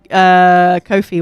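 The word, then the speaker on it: Ko-fi: No, it is pronounced Kofi.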